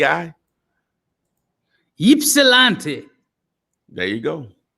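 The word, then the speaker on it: Ypsilanti: l s r l a n t i ipsilanti there you go ypsilante wow is an interesting word in it yeah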